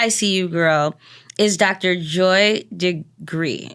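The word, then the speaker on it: DeGruy: girl is Dr Joy de gree de gry it might be gry it's d e g r u y now how you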